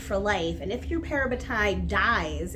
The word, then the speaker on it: parabatai: of the things and I've heard this pronounced a couple different ways but I just say parabatai because that's the way it sounds in my head but they have this